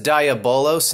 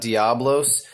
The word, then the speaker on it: Diabolos: And that says Diabolos, not Diablos. So everybody out there pronounces it wrong, and it drives me bonkers, actually.